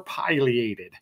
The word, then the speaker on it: Pileated: you say the name is it pated or Pileated okay uh I think the truth is both are correct both can you're okay